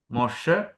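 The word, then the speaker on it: משה: എന്ന് എങ്ങനെ എഴുതും മോ മോഷ് മോഷേ ഒരു ഹേ ഹയും കൂടി അവസാനമുണ്ട്. ഹെ അവസാനം വരും ഉച്ചരിക്കത്തില്ല മൊഷേ മോസസ് എന്നുള്ളത് ഇങ്ങനെ എഴുതുന്നത്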